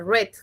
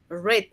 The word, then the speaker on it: read: Y recuerda que no se dice read, se dice red como el color rojo. Sí, red.